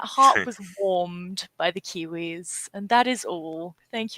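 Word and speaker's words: KeyWe: it's a game called kiwi it's absolutely it's kiwis running a post office it's spelt like key as in like keyboard and then we as in us and it's like kiwis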